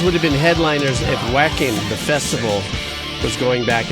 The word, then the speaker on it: Wacken: Wacken.